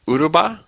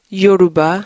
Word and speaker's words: Yoruba: So you can speak Uruba? Yoruba.